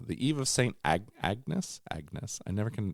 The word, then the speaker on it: Agnes: Angus yes Angus um it's not Angus it's Agnes Back in Black that's